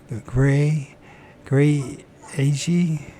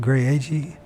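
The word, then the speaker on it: Graeagle: Last weekend, a group from our church went up into the mountains near Gray Ag, that's how you pronounce it, Gray Ag, California.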